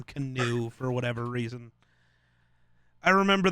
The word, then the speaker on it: Keanu: almost said love it I almost said canoe Neal which isn't right I know it's spelled Keanu but he definitely used to yell about people needed to call him canoe for whatever reason I